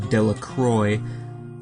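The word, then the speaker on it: Dellacroix: and Harry Jones and Dicky delaqua the villagers pronounced this name de Croy eventually made a great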